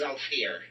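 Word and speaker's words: Zhalfir: And it's pronounced Zalfir.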